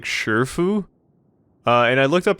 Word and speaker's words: Shifu: they're not sure, but it might be pronounced like Sifu and stuff like that. That probably is the case. I'm going with the pronunciation that the game gives, and it says Shifu. But that one game that came out, Sifu, they pronounced it Sifu in that game. This game says Shifu. Hong weirdly says, like, Shurfu.